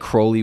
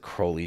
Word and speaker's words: Crowley: I actually think I think Crowley would probably be the more appropriate pronunciation because I think feel like that's the more more British the more English way.